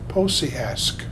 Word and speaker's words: Pociask: Pociask. Posiask. Ask? Ask. Yeah. Make sure you say the K, okay.